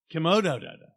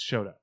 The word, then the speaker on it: Chouteau: And you go, Choteau. Komodo. No, it's Choteau.